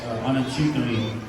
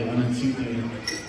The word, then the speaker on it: Anatutami: And Anatutami. That's how you say my name in Tiwa, which is a screaming eagle coming out of the valley, Anatutami.